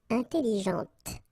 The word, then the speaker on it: intelligente: with an adjective, okay, intelligente. Same thing here. When you put this well, actually you will pronounce the final T, okay, but you don't pronounce this here.